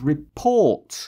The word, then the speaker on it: report: on the board and I make the second syllable sounding letters capitals. R-E would be lowercase and P-O-R-T would be caps. Mm-hmm. So that becomes report.